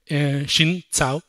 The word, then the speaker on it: Xin Cao: So, okay, now this new compiler option, -wflex-array-member-not-at-end, it was developed by Xin Cao. That's actually how Xin says we should pronounce her name, Xin Cao.